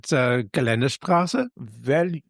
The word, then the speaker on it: Geländestraße: with the correct pronunciation, darling. Yes. GS stands for. Is it Geländestraße?